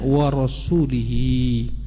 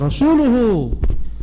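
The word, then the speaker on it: ورسولُه: Karena Quran sebenarnya bukan wa rasulihi, tapi wa rasuluhu. Innallaha bari'un minal musyrikina wa rasuluhu. Harus dibaca rasulu marfu'an bidhammah.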